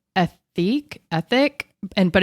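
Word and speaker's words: Ethique: a company based out of New Zealand called ethic ethic and but it's spelled e t h i quu e and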